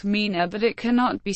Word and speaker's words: Meena: the Mina pronounced Mina is a tribe found mainly in the rajastan